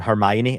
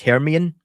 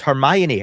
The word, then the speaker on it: Hermione: in your mind and I always used to pronounce um Hermione as herian because I never heard her. Yeah. I'd never heard her name said. So it was Herian, right?